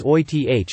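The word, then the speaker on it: Oerth: Gygax joked, "Say it as Oith as if you were from Brooklyn, and that's the way I pronounce it.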